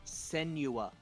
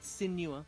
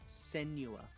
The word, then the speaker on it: Senua: Senua. Not Sinua, Senua.